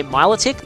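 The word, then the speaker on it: Milotic: an appropriate name pronunciation most people say my lytic but I like the same melodic but I don't know that's just me I guess but it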